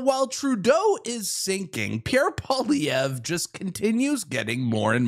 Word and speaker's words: Poilievre: It's Pierre Poilievre, not Poilievre or whatever you guys say, but...